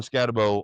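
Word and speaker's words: Skattebo: People say Scataboo. That's not how it's spelled. Bo. It's Scatabo.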